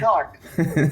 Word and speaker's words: Newark: N-E-W-A-R-K. Newark. Okay, Newark. For the life of me, it was N-O-R-K. Newark. If you're from Newark. Yeah, that's from Newark.